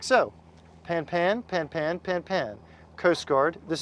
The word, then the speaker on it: pan-pan: You would repeat the same information, but you would say it like so: pan-pan, pan-pan, pan-pan.